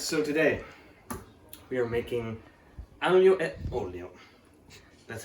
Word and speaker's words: aglio e olio: Yes, so today we are making aglio e olio. That's how you pronounce it.